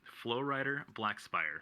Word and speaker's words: Floryder Blackspire: no no it's fine a lot of people pronounce it wrong so the it's it's um flow rider black spire so like flo writer okay all right yeah